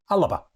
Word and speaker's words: Alba: hours it seems that that's how you pronounce what I thought was the Alba party because it's print it spelled Alba Alba but apparently it's ala I'm not sure how that